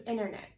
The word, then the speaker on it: internet: what happens to them the first t is completely drop the second one is healthy which means that you do bring the tip of your tongue onto the alveolar ridge but you don't release it you keep it there so it sounds like internet internet a bit more er